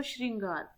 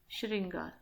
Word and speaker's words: श्रृंगार: तो जब भी हम करेंगे श्रृंगार तो उसमें उच्चारण करके देखो श्रृंगार, तो री तो आएगा ही आएगा। जब री आ गया तो ये र साथ में नहीं आएगा, इसकी शुद्ध वर्तनी ये होगी श्रृंगार। कभी भी साथ में र और री नहीं आएंगे, क्योंकि आप लोग उच्चारण करके देख लेना, श्रृंगार में र बोलोगे या री बोलोगे कंफ्यूज हो जाओगे।